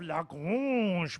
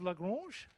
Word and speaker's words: Lagrange: Has anyone heard of Lagrange? Anybody speak French? You do? How would you say this name up the top? Lagrange. Lagrange. Was my pronunciation okay? Oh yeah, it was okay.